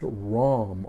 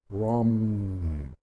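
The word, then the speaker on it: ram: solar plexus yellow and that is pronounced ROM r-a-m or ROM rum okay and then you have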